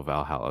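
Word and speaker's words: VA-11 HALL-A: it's basically it's it's it's spelled va-11 ha-11 so valhalla valhallas it's basically a cyberpunk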